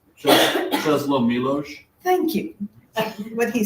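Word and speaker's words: Czesław Miłosz: Czesław Milosz.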